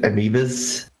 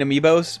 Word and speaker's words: amiibo: I haven't seen his place, but I'm imagining it covered in amoebas. You mean amiibos? But I mean, that's I not. said it in the phonetically correct American way.